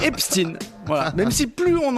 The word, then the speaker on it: Epstein: Alors, apparemment, c'est epstine.